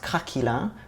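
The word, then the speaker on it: craquelin: I'm gonna make consists of three elements the crackle and topping the choux puff and the vanilla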